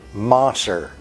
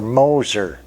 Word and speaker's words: Moser: it these are from a company called Mosser or Moser wherever you're from might be the way you pronounce it a lot of us